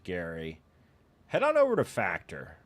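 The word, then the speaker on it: Gerry: If you want to look like Jerry, pronounced Gary, head on over to Factor, guys.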